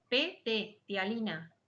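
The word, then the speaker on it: ptialina: La amilasa salival, que se denomina también tialina, se escribe PT, tialina, ¿vale? Con la P al principio, tialina.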